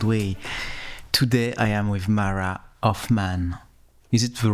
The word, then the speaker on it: Hoffman: Today I am with Mara of Man. Is it the right pronunciation?